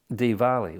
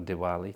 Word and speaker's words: Diwali: then there was uh Diwali or deepavali uh or Diwali depending on how you want to pronounce it deeper Valley which is